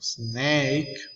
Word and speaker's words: snake: So we have snake. Okay, we have a letter E, but the letter E here, it's not pronounced. We don't say it.